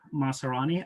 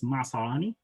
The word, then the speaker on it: Maasarani: my name is maserani i'm i'm happy with that pronunciation uh it's masarani uh but english lacks a few letters here and there um